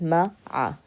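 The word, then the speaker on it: مع: Okay, so we have fi, we have min, ma'a, pronounced with the fatha in both letters, ma'a, ma'a.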